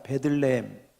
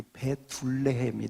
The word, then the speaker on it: 베들레헴: 베들레헴. 베들레헴을 발음을 잘 하셔야 됩니다. 베들레헴을 발음을 좀 이상하게 하면 이 베둘레헴이 됩니다.